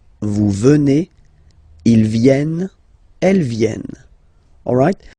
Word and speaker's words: venez: okay, and then vous venez, remember a Z combined like that, et, venez, venez, vous venez, okay.